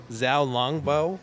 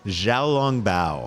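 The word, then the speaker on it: xiaolongbao: And so the place is kind of known for their, and I'm probably going to mispronounce this, the Zhao Longbao. Zhao Longbao.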